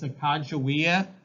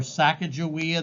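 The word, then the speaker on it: Sacajawea: Now, her name is Sacagawea, or Sacagawea, that is spelled S-A-C-A-J-A-W-E-A. S-A-C-A-J-A-W-E-A.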